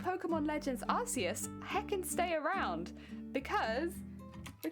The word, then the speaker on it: Arceus: Yeah, Arceus. Arceus. Pronouncing Wait, no, I think I've been pronouncing it wrong probably because I've been calling him like Arcee, but like, you're all good.